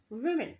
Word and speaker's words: women: तो फीमेल्स के बदले हमें WOMEN वीमेन, इसका सही प्रोनाउंसिएशन होता है वीमेन।